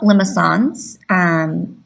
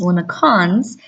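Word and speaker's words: limaçon: So let's talk about limicons, commonly mispronounced as limicons. I've heard people say them both ways, but it's very important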